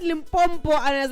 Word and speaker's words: Limpopo: That's Limpompo. I see all the time whenever people mispronounce Limpopo, you get so attached, but I out-touch you. But it doesn't touch me. I'm just like Limpopo.